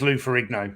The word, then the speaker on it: Ferrigno: michael shafer saying that you do pronounce the g so it is lou ferrigno yep and black chandelier